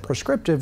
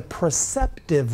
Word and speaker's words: preceptive: mispronounced it last week i said prescriptive will it's the preceptive will it is the will